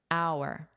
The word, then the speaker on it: hour: And another one, although it's not from this word, would be our hour our word honor can be a verb like we have here because it's in the past simple.